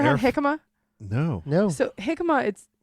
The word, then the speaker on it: jicama: So jicama, it's like a root. Jicama.